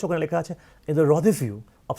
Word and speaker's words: rendezvous: I repeat, the spelling is রেন্ডেস verse but the pronunciation is রদেভিউ। তোমরা যেমন French word জানো,